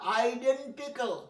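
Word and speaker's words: identical: দেখো আইটেম, আইস, আইডিয়া, আইডেন্টিক্যাল, দেখো কতটা আবার ক্যাল নয়, CL ক্যাল নয়, যেমন ভাইটাল, TL ট্যাল নয়, তেমনি আইডেন্টিক্যাল, কয় হসন্ত লয় হসন্ত, আইডেন্টিক্যাল, আইডেন্টিক্যাল, আইডেন্টিক্যাল নয়।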